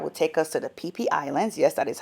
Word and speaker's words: Phi Phi: Right there, we are boarding the boat that will take us to the Pee Islands. Yes, that is how you pronounce it. Pee Islands.